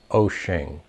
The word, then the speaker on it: Wouxun: the website at wo u xu NUS the pronunciation is ocean I'm sure you'll find a lot of different